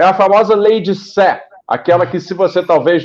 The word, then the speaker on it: Say: verbo dizer em inglês, mas não é say, é sé, porque se trata de um economista francês do século XIX, então se pronuncia sé, embora que não seja igual à Praça da Sé.